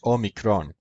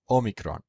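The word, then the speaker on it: όμικρον: In classical Greek, it was pronounced omikron, just like in Koine Greek. In modern Greek, it's pronounced omikron, without the second accent.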